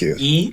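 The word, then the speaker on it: 一: You pronounce this E. You can look on the back here. It says E Jiao. E is 1. And then Jiao is the currency right here.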